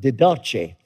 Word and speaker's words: Didache: came across a book it's called the didache some would pronounce it didachi second century uh document